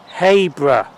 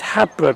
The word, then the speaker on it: Habrough: a Y there, it's Habrough. Now you always think it's Habrough because of ha, but it's not ha, it's hay. For some strange reason, that's how it's pronounced. Anyway, we're at Habrough till 11:30.